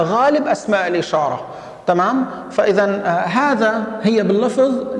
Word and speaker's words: هذا: فإذا هذا هي باللفظ، نحن نلفظ ألفا بعد الهاء، وأيضا هذه، وأيضا هذان، وهذين، وهؤلاء، كلها نلفظ وننطق ألفا بعد الهاء، إلا أننا بالكتابة لا نكتبها، إلا أسماء الإشارة التي